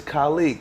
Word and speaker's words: Kalique: only a first name my first name is colleague you spell it ka l IQ as in Quincy you